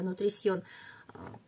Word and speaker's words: Nutrition: Вот так он по-французски читается, Nutrition.